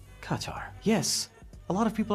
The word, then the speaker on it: Qatar: Qatar Qatar Qatar Qatar Qatar cutter kataratqar But is that really the true pronunciation? The irony of it all cutter is actually closer to the official pronunciation.